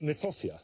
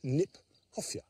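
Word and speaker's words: Kniphofia: We should pronounce it Niphofia, because it was named by Johann Hieronymus Nip. And we've managed to conflate that, so there's a fuff in the middle.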